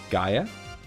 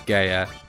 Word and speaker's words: Gaia: that's silly I mean you know how you say it um Gaia all right fine uh clearly I'm the only person in the world who says Gaya I mean it's one